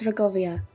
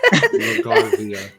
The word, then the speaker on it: Rogarvia: Well, then nobody can know that she is the daughter of House Rogovia. All of us saying her last name wrong, it's fine. Rogarvia.